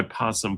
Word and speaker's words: possum: You hear folks say aosum or just possum when they drop the first O. It really does seem silent.